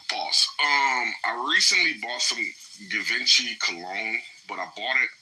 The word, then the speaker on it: Givenchy: Givenchy. I like that. I have heard it pronounced that way.